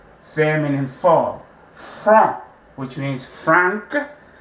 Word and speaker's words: franc: So franc, the C is silent, and then you add your H and the E, and then you will pronounce the CH as sh, right?